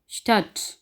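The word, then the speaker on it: Stadt: यहाँ पे हमने जब भी डेठे इकट्ठा आएगा तो डे को साइलेंट करना है और ठे की आवाज़ आनी है, जैसा कि एस ठे आ डे ठे साल है, इसको हम पढ़ेंगे स्टट।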